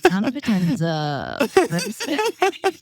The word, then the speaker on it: Nana Potenza: Nana Potenza, and brand work. No, yeah, it's just me. It's just me, Nana Potenza, my own.